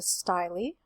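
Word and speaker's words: style: have this which is a styly note that the pronunciation is not the usual English pronunciation of this particular spelling um you might have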